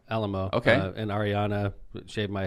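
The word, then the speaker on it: Alaimo: got to meet the alamo family is how they pronounce it okay it's spelled like a a-l-a-i-m-o yeah but they pronounced it alamo okay and ariana shaved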